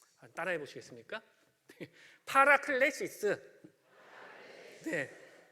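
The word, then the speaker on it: παράκλησις: 얘네들 말이 있을 거 아니에요 그게 이제 뭐라면 파라클레시스네 따라해 보시겠습니까 파라클레시스 파라클레시스네 발음은 이제 좀 그런데요 아무튼 이게 보혜사 같은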